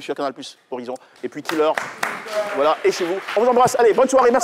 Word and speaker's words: Kil'heur: Donc, c'est au suivant et l'artiste c'est Killer, ça s'écrit K-I-L-H-E-U-R.